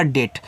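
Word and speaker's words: date: डब्ल्यू ए के ई था ना तो देखो ए के बाद एक लेटर छोड़ के इ आया था। तो सेम वहां भी यही सिस्टम है। तो ये आपका हो जाएगा डेट।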